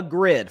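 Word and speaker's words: Gryd: podcast network called The Grid. For the podcast audience, Grid is spelled G-R-Y-D, The Grid.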